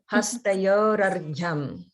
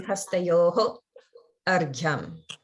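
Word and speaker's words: Hastayor Arghyam: Hastayor argyam. Hastayor Hastayor argyam. argyam. Hastayor argyam. That's it. Hastayor argyam. Okay. That's it. So if you do break them apart, that's when it would be hastayoho argyam.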